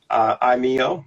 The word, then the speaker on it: iMEO: So what was the inspiration for iMEO?